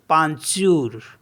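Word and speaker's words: peinture: एन टी यू आर ई इसको पढ़ते हैं पंचूर पंचूर मीस होता है पेंटिंग नेक्स्ट वर्ड है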